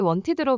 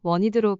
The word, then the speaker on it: wanted: 싶었어의 의미로 쓴답니다.이 패턴에서 과거 동사 원티디를 원어민들을 원티드로 발음하지 않는답니다. 티를 무음으로 하여 원드로 발음하거나 짧게 원으로 발음한답니다.